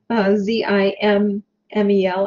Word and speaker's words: Simmel: and that is pronounced Zimmel with a Z sound, Z-I-M-M-E-L, and the accents on the first syllables.